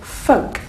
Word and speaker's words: folk: you pronounce this word the L is silent if I tell you the L folk F folk do you